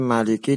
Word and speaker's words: Maliki: Yang pertama mim maliki dibaca pendek. Ini ma pendek.